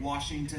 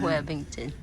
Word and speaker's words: Wethington: Now my last name is Wethington, which seems easy, Wethington, but I get Washington and Wellington. Wethington.